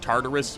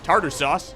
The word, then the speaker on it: Tartarus: I learned pretty quickly that Tartarus, or as I've been mispronouncing him for 90% of this voiceover, Tartar sauce has a shield that makes me completely useless against him.